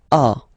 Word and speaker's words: as: Tu as. Then comes il. So masculine form, he. Okay, il, he. Elle, she. Okay, and then a. So as you can notice, second form as is pronounced a, and this is a.